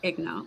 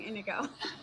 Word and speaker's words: Inigo: Yeah, and I love that whole going back to the beginning for Fezzik and Igno. Yeah. Now I'm gonna say it wrong, Inigo.